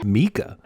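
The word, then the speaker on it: Micah: Hello, Mika. Mika? I know that's how the actor pronounces his name, and that's how the movie pronounces it, but I'm pretty sure that's wrong.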